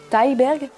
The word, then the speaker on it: Thyberg: Numéro 10, Pleasure de Ninja, comment ça prononce? Thyberg.